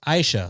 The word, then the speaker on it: Aisha: 2, it's pronounced Aisha, like Aisha, not Aisha.